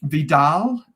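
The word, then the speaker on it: VDAL: had a full review of it but um Vidal as it's pronounced as a ticket symbol vda um when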